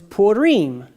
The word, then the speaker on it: Purim: How do you say lots, plural? Is purim. Pur is one lot. Purim is lots.